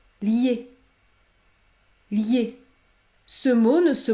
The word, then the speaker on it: lié: donc accueil accueil accueil il ne faut pas dire lier lorsque la voyelle i se situe devant une autre voyelle phonétique il faut prononcer la semi-voyenne comme dans le mot piano ou encore se fier se fier la bonne prononciation et donc liée ce mot ne se